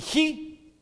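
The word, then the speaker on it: 机: La palabra china para crisis son dos caracteres que más o menos se pronuncian así: wei, W-E-I, wei, hi. Son dos. El primero, W-E-I, wei. ¿Ok? Y el segundo, hi, J-I.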